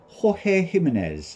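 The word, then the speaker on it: Jorge Jiménez: So that is coming from George Gimens or Ho Gimenez as people like to pronounce it.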